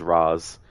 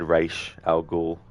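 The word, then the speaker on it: Ra's al Ghul: I know that um in the Nolan movies they mispronounce uh R's name is Ras but I still said R Al goul just out of habit come simitar is a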